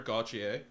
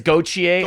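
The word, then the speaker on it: Gauthier: that you opened nice cutter gaucher i pronounced that right troy i think it's gautier i believe that's what he told me cochier cutter gaucher just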